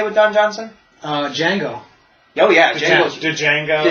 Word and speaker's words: Django: Django. Oh, yeah, The Django. The Django Unchained. Jonah Hill was in that. The D is silent, hillbilly.